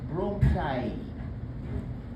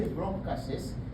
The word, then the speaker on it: bronchi: Bronchus is one, but if there are two of them plural, it's bronchi. So don't say bronchuses, you say bronchi.